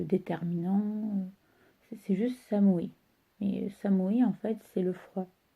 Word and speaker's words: samui: qu'il fait froid, dire samui. Samui. Alors, on n'oublie pas que le U en japonais se prononce OU.